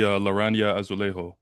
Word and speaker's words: Laranja Azulejo: and whatnot, but like let's just say the Laranja Azulejo. Hmm. Did I pronounce that correctly?